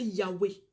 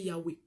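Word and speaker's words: Yahweh: que nous on prononcer Yahwé pour en français les voyelles soient insérées dans la prononciation d'origine juive ils ont ajouté le ah ils ont ajouté le E ça fait yawei certaines personnes prononcent ça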